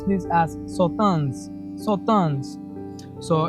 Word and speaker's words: Sauternes: So you pronounce this as Sauternes.